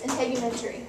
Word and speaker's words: integumentary: the word you're talking about okay it is integumentary that's how you say it um it's made